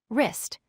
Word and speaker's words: wrist: Second word, wrist. The silent letter is W.